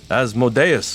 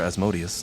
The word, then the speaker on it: Asmodeus: As the leader of the Nine Hells himself stands beside you, Asmodeus, or Asmodeus, depending on how you choose to pronounce it, and he'll never say.